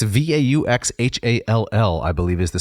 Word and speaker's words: Vauxhall: It's Vauxhall, I believe is the spelling, but they pronounce it Vauxhall as only the British would.